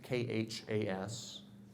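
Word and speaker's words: KHAS: little town of Hastings KH AAS if you pronounce that it's K Haas we had a tornado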